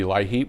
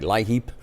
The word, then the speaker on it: LIHEAP: Very shortly, the issue is going to be LIHEAP, low-income heating assistance.